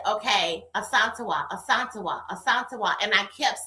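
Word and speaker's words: Asantewa: school with me and her name um it's a S A N T E W A, right? Um and so I didn't know how to say it, honey. All right. And so when she said it to me, I thought, "Oh my goodness, this is so pretty." As is her name is Asantoa.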